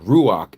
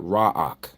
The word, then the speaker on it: ruach: So I'm just giving you a a little coaching on how to pronounce exaltation in in abit which is rumamu not ramamu okay and ruach and not raak okay all right okay so